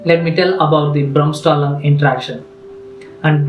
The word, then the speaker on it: Bremsstrahlung: me tell about the brahmstalung interaction and bremstalling is a german pronunciation that means that breaking